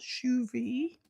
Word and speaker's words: Shuvi: And the one the little boy with the great green collar on is called Shuvi, but it's it's spelled S H U V I.